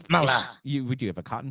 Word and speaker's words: Kamala: Now, if we pronounce it correctly, Kamala.